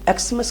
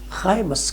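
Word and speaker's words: Xmas: تو یہ جو ایکسما لیٹر ہے یہ بیسیکلی خائے ہے, اور ہمیں اس کو ایکسمس کہنے کے بجائے خائمس کہنا چاہیے. خائمس, اٹ از ناٹ ایکسمس, اٹ از خائمس.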